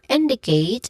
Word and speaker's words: indicate: For indicate, there's three distinct sounds that is produced here, starting with in, with a short E sound, D, which also has a short E sound, and then Kate, which has a diphthong sound A, just like in data.